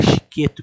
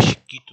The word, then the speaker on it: Chiquetto: É Chiqueto que se pronuncia, não é Chiquito, não é Chiquitita, não é Chiqueiro, não é Chicato, Chiquito, Chicato.